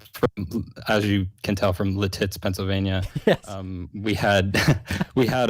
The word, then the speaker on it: Lititz: know that for sure and i know it's lititz right is that the right pronunciation yeah yeah that's right yeah but it just there's nothing better than pronouncing it latits uh okay listen i hope that you guys